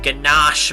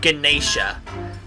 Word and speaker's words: ganache: in ganache mine as i have been informed that i've been saying it wrong all these times not ganesha i don't know why it says ganesha but why i say ganesha or whatever i used to say it's ganache or waiter is it